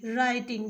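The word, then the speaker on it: writing: टू राइटिंग लिखा है डब्लू आर आई टी आई एन जी राइटिंग देखिए यहां पे डब्लू साइलेंट है ठीक है तो आर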